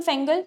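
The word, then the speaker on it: Fengal: अच्छा, very important, cyclone फेंगल आया है, इफ my pronunciation is not wrong, फेंगल, फेंगाल भी बोल रहे हैं कुछ लोग।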